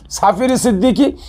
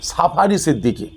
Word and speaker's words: সাফি সিদ্দিকী: আমার নাম সাফি সিদ্দিকী। কিন্তু ইংলিশে উচ্চারণ করছে সাফারী সিদ্দিকী।